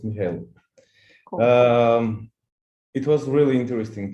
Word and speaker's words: Michael: Is it Michael? Yeah, it's Michael.